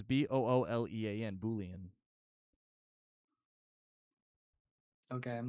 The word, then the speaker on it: Boolean: don't have to okay are you trying to pronounce the like the spelling or something no it's b-o-o-l-e-a-n Boolean okay I'm not familiar with that term